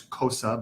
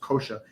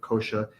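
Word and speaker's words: कोश: It sounds like kosha, but it's spelled S with an accent because it's not quite the SH that we're used to in English.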